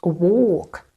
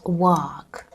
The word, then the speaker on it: work: Work, not walk, but work. Long O sound.